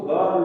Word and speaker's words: girl: बट इसमें देखिए जैसे GIRL, क्या हुआ, इसको गर्ल बोल जाएगा, गर्ल। यहाँ जय की साउंड न आकर के और गे की साउंड आती है।